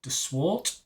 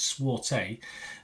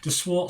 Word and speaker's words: de Swart: It was written and stars Michelle de Swart. I think that's how you pronounce it. No thing over the E, so I don't think it's Swarte. Michelle de Swart.